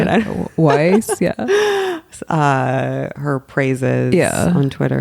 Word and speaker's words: Weiss: Weiss, yeah.